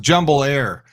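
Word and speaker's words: Jumbolair: do know that now that's that's it's it's pronounced jumble air jumo air is the only fly in and fly out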